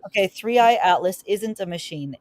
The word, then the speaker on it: 3I/ATLAS: KI, how do you pronounce it? KI. No, well, they do it differently. 3-eye atlas is what it is. Okay, Three Eye Atlas isn't a machine.